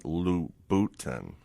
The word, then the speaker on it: Louboutin: The way you pronounce it is Christian Louboutin. Just want to make sure.